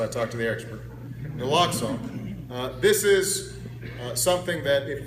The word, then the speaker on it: naloxone: naloxone i want to make sure i was pronouncing that right so i talked to the expert naloxone this is something that if first responders have